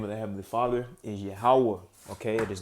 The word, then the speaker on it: Yahweh: This is the Tetragrammaton, and it's pronounced. How do you say it? Let's listen. Yahweh. Yahweh. Okay, that is the name of the Lord.